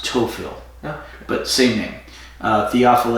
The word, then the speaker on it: Théophile: pronounce TOEFL yeah but singing the offal a is the French pronunciation as opposed to the cage of pronunciation and théophile would be the anglo-saxon ization the English pronunciation she'll be like what